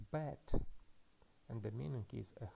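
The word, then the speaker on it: בית: The first consonant is beit, and it is pronounced as B. After that we have matres lectionis, tsere yod, which is pronounced as e. And the final letter is tav, T. And we can read this word as bet, and the meaning is a house of somebody.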